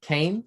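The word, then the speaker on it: Caen: i apologize kay liter no not khan c-a-e-n kane france and asked for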